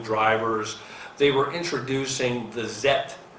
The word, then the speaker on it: Zeth: They were introducing the Zeth. It's spelled Z-E-T-H.